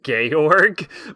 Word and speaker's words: Georg: the characters name was gayorg but it was spelled like george but like there wasn't an e at the end it was just like gay org they're like georg go